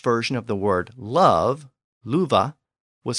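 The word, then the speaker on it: lufu: of the word love louva was spelled l UF a but again the pronunciation was voiced with a V sound now there may be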